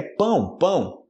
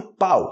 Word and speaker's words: pão: a palavra pão né que é pão não fale pau Ok para as pessoas